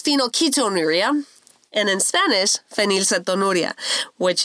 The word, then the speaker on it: phenylketonuria: It's still hard for me to pronounce. Phenylketonuria. Yes. Okay. It's phenylketonuria.